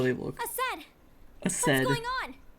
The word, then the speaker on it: Aced: None of their names are pronounced Indy, how they look. Ased! Ased. What's going on? It's aced.